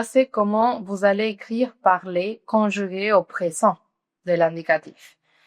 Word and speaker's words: parle: Ça, c'est comment vous allez écrire parler conjugué au présent de l'indicatif. Comment vous allez prononcer? Alors, vous allez dire je parle. No tiene acento la E, alors no la pronuncian.